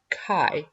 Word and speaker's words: chi: the expected data Chi the chi is pronounced Kai and comes from the Greek symbol Chi the symbol for chi-squared